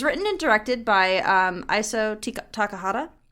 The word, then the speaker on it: Takahata: But it was written and directed by Isao Takahata. I almost said Tikahata. That's not right.